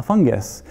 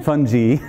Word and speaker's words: fungi: you're not welcome and the mushroom says no fungi yeah actually that's a bad joke for in many ways one is that it's not actually pronounced that way it's fun fun G but I can never resist anyway so fun